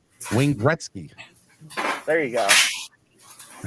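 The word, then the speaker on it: Wayne Gretzky: picture with them either why are you adding our third syllable into his name that's his name come on man it's not three syllables it's two Wing Gretzky there you go I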